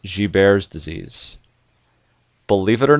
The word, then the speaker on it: Gilbert: most common disease is this thing called guilt G bares disease it looks like Gilbert's but it's pronounced bears disease believe it or not this condition which